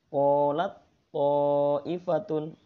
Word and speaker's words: qalat ta'ifatun: Bacanya seharusnya qalat ta'ifatun. Nah, karena ini idgham mutajanisain maka suara ta hilang. Qalat ta'ifatun.